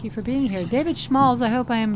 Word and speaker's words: Schmalz: for being here David schals I hope I am pronouncing your name correctly from Monterey County week hi hi hello um it's pronounced schmalz uh you know it's